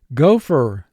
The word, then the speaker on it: gopher: Gopher. Gopher. The gopher dug a hole in my backyard. Gopher. First syllable go, 2 sounds. G, O. Fur, 2 sounds. F, Go, fur. Mark the word.